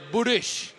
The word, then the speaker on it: Burris: Although it is spelled Burris, if you ask David, it is actually said Burish. Burish. It's a Czech pronunciation.